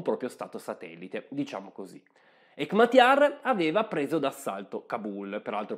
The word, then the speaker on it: Hekmatyar: suo cognome e complesso cercherò di pronunciarlo meglio hekmatyar e era capo di un